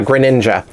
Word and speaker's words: Greninja: Yeah, Greninja.